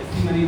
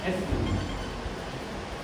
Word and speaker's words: Acemoney: और इस मनी को जैसे आपने बाबर ने बताया कि ऐसी मनी नहीं है, क्योंकि स्पेलिंग इस तरीके से है। तो आप लिखिए वर्ड प्रोनाउंसिएशन अगर जाएंगे ग्रामेटिकली के हिसाब से जो बिल्कुल सही यही है, एस मनी, राइट। तो आप इसे जब भी बोलेंगे तो एस मनी, radiant एस मनी हमारा ब्रांड है।